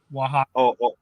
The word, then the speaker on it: Oaxaca: You can also access Costa Chica from I don't know how to pronounce this one. Oh, Oaxaca. Oaxaca.